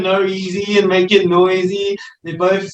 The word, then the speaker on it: NOEASY: Oh, you can say noisy. It's Noisy. fine. Whatever you're comfortable with.